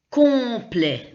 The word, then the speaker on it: complet: Donc, OM, c'est comme ON. On dit complet.